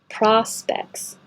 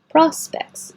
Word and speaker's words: prospects: get the value size prospects looks like oh sounds like ah and you don't have to say this T at all just specs prospects do you have any